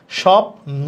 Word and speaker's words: স্বপ্ন: তার মানে এটা লেখা স্বপ্ন, তাহলে বফলার উচ্চারণ দেখো হচ্ছে না, স্বপ্ন।